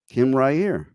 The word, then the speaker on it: Rahir: So let's welcome to the show, Kim Rahir. Hi there. That was perfect. That's exactly how my name is pronounced.